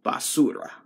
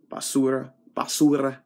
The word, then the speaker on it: Basura: the Trash King, Rey Basura. Basura. I'm used to saying basura, but it's basura if you don't know how to say it in Spanish.